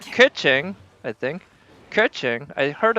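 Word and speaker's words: Keqing: Kaching's name isn't really pronounced Kaching. It's more pronounced more like Kuching, I think.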